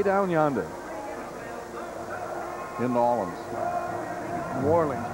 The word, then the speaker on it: New Orleans: New Orleans, we pronounce New Orleans up here.